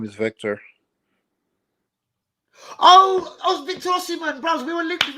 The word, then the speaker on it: Osimhen: How do you actually say it? Yeah, Osimhen, first name Victor. Yeah, that's it's spelled with an O. Look, I've just looked at it. It's Osimhen. Yeah, it's Osimhen.